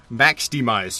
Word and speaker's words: MAXDMYZ: Max Demise, you're right, you're not qualified.